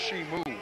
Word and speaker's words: Ximu: good on that kenny spelled with an ximu who would think it was pronounced shimu back to the action